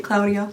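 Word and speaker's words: Cloudia: It's spelled like, you know, clouds because of the clowns, but it's Claudia.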